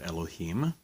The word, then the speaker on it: Elohim: Elohim literally means gods, small g, gods. That's why I'm pronouncing it Elohim.